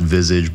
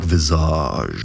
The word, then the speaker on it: visage: Yeah, I know it's pronounced visage, but I like visage.